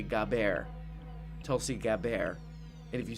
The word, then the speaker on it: Gabbard: Let's start spreading a thing that people are being really rude when they say Gabbard. It's actually Gabbard.